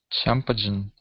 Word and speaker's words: champagne: Jim can only afford to drink ch champagne. Cham okay, champagne. Champagne. Champagne. Champagne. So this G is silent right here.